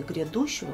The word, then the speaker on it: грядущего: проверочное слова излишни слове грядущего проверочное слово грянет в этом слове ударение падает на букву е обособленное определение не помнящие